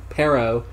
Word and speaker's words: pero: If you roll the R's, it means dog. Pero, just pronounced like that, means butt.